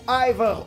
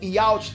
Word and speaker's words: Yhwach: Mais uma vez, ou Aivar ou Yhwach, tanto faz a pronúncia que você usa.